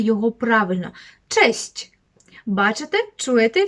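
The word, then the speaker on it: cześć: Кость так а Кость Так більш м'яко честь честь слово яке 100% Знає кожен з вас Але можливо не кожен вимовляє його правильно честь бачите чуєте в кінці щч с красковане то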